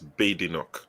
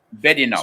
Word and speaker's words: Badenoch: She said that there's no bad in my name. She said her name is not Badenoch, it's Badenoch. Badenoch.